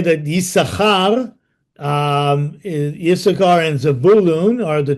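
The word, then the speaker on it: יששכר: And then Yisachar, that's why his name, even though we pronounce only the one sin, but it's written with two sin. Yisachar, Yisachar.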